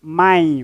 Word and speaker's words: mãe: Pois na pronúncia nós não vamos pronunciar E. Vamos pronunciar mãe, mãe. Temos I, não mãe, mãe, está certo?